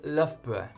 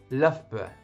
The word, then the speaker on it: Loughborough: So I live in England and I live in a small town called Loughborough. Loughborough. It's quite difficult to pronounce, so I'll say that again.